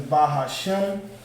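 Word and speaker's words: בהשם: So it's Ba Ha, and then the Sha and the Ma at the end have a connector underneath the two. So it has a connector underneath the two, meaning those two characters are pronounced together. So the Sha and the Ma now become Sham. You understand? Sham. Ba Hashem.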